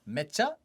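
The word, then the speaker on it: めっちゃ: Mecha, as in very, very, very. Yes. Yes! You remember that? Because like Mecha Godzilla, if you just pronounce it differently, it's Mecha.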